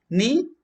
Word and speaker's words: knee: Knee. K is silent.